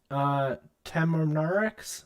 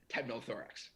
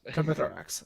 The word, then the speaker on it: Temnothorax: But I have a really hard time pronouncing a lot of these words, as you could tell. But how do temperate Temnorix species survive the winter? Temnothorax. Temnothorax.